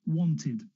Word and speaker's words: wanted: sound looked helped if you have t or d then e becomes ID it's just easier to say wanted needed so if e